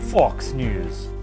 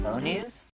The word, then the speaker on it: Faux News: Fox News with Kent Clark. Guys, that's pronounced Faux News.